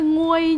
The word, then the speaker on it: nguôi: là Vang nhưng mà nhớ là khôn ngui chứ phải nguôi nha con con với